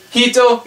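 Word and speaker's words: 人: Sorry, just deal with the one one pronunciation. Hito means person.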